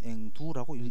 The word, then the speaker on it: 앵도: 55페이지 앵도라고 하고 우리는 앵두라고 읽습니다. 쓰기는 앵도라고 쓰고 읽기는 앵두라고 읽죠. 그죠?